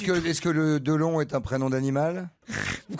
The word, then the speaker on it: Delon: Ah, c'est pas Dylan, ah, c'est pas Delon. C'est un étranger. Alors oui. Delon. Ah, j'ai pas la réponse, mais on c'est un étranger. C'est Dylan. Non, Delon.